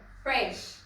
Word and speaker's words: Phresh: correct you actually because most people mispronounce it they actually forget that there's an H there fresh so now it makes